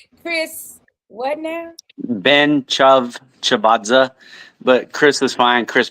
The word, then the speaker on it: Ben-Tchavtchavadze: how is really said Chris Ben chazza just like it looks Chris what now Ben chav chazza but Chris is fine